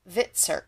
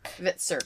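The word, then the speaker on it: Hvitserk: Hit it started with the H but HV the H is silent. Oh, Vitzer. Vitzer.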